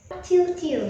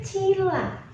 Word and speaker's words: Cila: Cil, sih, Bu. Kayak bocil tahu. Namaku kan Cila, C-I-L-A, Cila. Jangan cil.